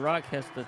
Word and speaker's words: Rochester: Because we wanted to win and embarrass the Rochester team. It's pronounced Rottenchester.